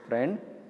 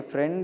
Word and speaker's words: friend: Okay, friend's pronunciation F-R-E-N-D. Its pronunciation it comes like that. But spelling is F-R-I-E-N-D.